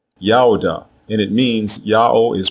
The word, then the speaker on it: Judah: Both of these versions are pronounced the same way, Yaodah, Yaodah, and it means Yahweh is praised.